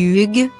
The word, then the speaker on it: Hugh: On dit Hugh.